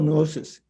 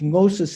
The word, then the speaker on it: gnosis: no were five syllables gnosis is just two syllables i prefer that just